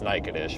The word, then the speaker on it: Natchitoches: here, is like Nacogdoches or something, but it's Natchitoches, but it's spelled like Nacogdoches or something.